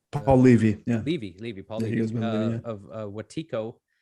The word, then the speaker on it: Levy: It does, and you've had some really impressive guests on there, especially Levy. Is that how you pronounce his last name? Paul Levy, yeah.